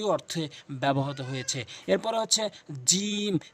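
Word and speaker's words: جيم: ব্যবহত হয়েছে এরপরে হচ্ছে জিম জিহ্বার মাঝখানটি উপরের তালুর সঙ্গে লাগাবেন তিন আলিফ টেনে পড়বেন জিহ্বার মাঝখানের অংশটা উপরের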